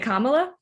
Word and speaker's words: Kamala: I am going to introduce our wonderful guest speaker, and Kamala, or is it Kamal? Okay, is it Kamala?